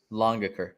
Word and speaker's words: Langaker: how you pronounce it uh longer longer so it's like long l-o-n-g but with an a got it all right